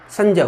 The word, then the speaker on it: संज्ञा: और जिसे आप संज्ञा कहते हैं ना, इसका शुद्ध उच्चारण क्या होता है? संज्ञा होता है।